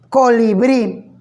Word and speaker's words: colibrí: Si la palabra colibrí, que tiene 3 sílabas, colibrí, y me doy cuenta que la sílaba tónica aparece al final en la última sílaba, entonces será una palabra aguda.